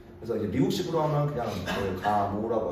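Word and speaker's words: Gamow: 감옥프 감옥프. 그렇지? 그래 다 배웠잖아. 감옥 또는 프 그냥 감라고 하기도 해요.이 사람이 저기 그 소련생만 그래 가지고서 뒤에 마지막 발음이 FF더라고. 그래서 이제 미국식으로 하면 그냥 가모라고 하 거기식으로 하면 그냥 가모하고 끝내고 그 우리가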